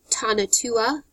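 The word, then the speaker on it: Tonatiuh: At the center of the stone is a representation of either the sun god Tanatua, T-O-N-A-T-I-U-H, the day sun, or Yahutanatua, the night sun, and that's spelled Y-O-H-U-A-L-T-O-N-A-T-I-U-H, or the primordial earth monster, Tal-Tek-Huti,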